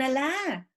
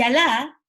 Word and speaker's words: Alá: Y Alá es con tilde al final en la pronunciación que nosotros hemos adaptado.